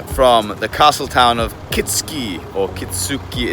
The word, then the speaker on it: Kitsuki: Good morning from the castle town of Kitski or Kitsuki. It's spelled Kitsuki, but it's Kitsky.